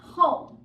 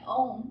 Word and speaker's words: home: right then we have home home again not oh I don't say I'm going to my own I think I'm going to my home again home we know I'll even